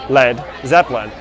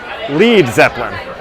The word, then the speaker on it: Led Zeppelin: It used to be in the beginning L-E-A-D, Led Zeppelin. But too many people were mispronunciating it and calling it Lead Zeppelin. So they changed it. They dropped the A.